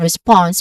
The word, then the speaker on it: response: For forward, the stressed syllable is on the first syllable for, and for response is on the second syllable.